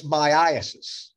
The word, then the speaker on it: myiasis: That's myiasis. Myiasis. In fact, Dr. Rapini says it should be pronounced myiasis. He's probably right, but I've always heard of myiasis.